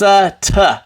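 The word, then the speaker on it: אֵת: or by number three this first letter it makes what sound silent that's right and it is an alif and then the second letter makes a t sound and then this vowel right here is an a sound so we have here at at this is how we say it at good practice people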